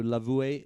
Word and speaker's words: Lavoué: So Lavoué is how the French pronounce it.